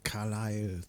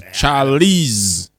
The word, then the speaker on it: Charlize: Carlisle. No, it's Charlize. Said Z at the end, so it can't be Carlisle.